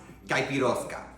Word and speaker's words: caipiroska: And remember, it's pronounced gaposka.